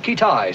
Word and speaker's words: Keetage: Have we located this fella Keetage yet? Pronounced Kitai, sir.